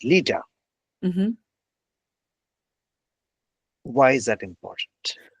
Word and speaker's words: Leta: So actually, let's start off with when we started, we said, I started by pronouncing your name as Leta, and you said it's Lita.